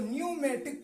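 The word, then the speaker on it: pneumatic: हो तो साइलेंट होगा तो यहां पर प पढ़ा नहीं जाएगा य साइलेंट होगा तो न्यूमेटिक पढ़ा जाएगा इसको पढ़ा नहीं जाएगा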